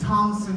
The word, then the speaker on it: Thomson: name is Thompson although I said it's Thomson not top there's no media my last name